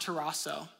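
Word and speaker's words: ταράσσω: father glorify your name the word troubled in the Greek here is pronounced toaso and it means to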